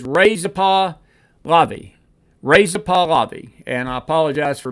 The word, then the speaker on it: Reza Pahlavi: She says Reza Pahlavi. And I apologize for mispronouncing his name, but so forth.